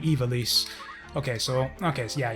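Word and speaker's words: Ivalice: country of ivelisse and I used to pronounce it I villis until the new voice-acted games revealed the fact that yeah it's actually ivelisse okay so okay so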